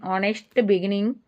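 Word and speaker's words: honest: ಆನೆಸ್ಟ್ begins with silent H sound is a vowel.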